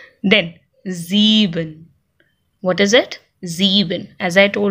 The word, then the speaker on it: sieben: I E है तो E की आवाज आएगी और E I की आवाज आ रही है तो I की आवाज आएगी. अगर E I कहीं लिखा हुआ है तो I की आवाज, I E कहीं लिखा हुआ है तो E की आवाज. So sieben.